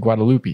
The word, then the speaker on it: Guadalupe: Guadalupe is spelled just like it sounds, like Guadalupe. Guadalupe. Oh, I said Guadalupe. It's not loopy. It's Lupe.